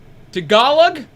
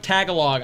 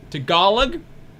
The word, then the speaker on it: Tagalog: And number 6, Tagalog. Oh, I know I pronounced that wrong. It's not Tagalog. I know that. It's Tagalog, I think.